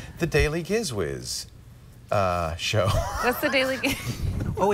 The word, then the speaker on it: Gizwiz: It'll be, that's almost embarrassing to say, the Daily Gizwiz show. What's the daily? Oh, it's Gizwiz. The Giz, yes, that's how you pronounce it.